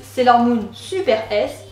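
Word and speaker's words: Sailor Moon SuperS: fc leur nid superbe en français on prononce sailor moon super s en détachant le dernier s du mot super super sailor moon est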